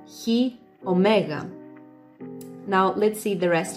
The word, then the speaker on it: Chi Omega: So the first one, I think in the US you pronounce it as Chi Omega, but in Greece we would say Chi Omega.